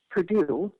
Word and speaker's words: Perdue: university is spelled, and it's not P-U, it's P-E-R-D-U-E, like the chicken in people's groceries.